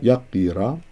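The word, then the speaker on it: ܝܩܝܪܐ: Yaqira. Notice that, how I pronounce that. Yaqira.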